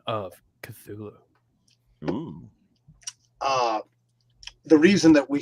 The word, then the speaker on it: Cthulhu: by the human tongue but the closest pronunciation pronunciation that he said people could utter would be kulu hulu you know knockoff r b group or something